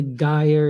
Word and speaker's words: gyre: Then make the G hard in the gyre and gimbal, and pronounce wrath to rhyme with bath.